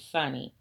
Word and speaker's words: Sunni: muslim and a sunni i pronounce it sunny s-u-n-n-i tail the one that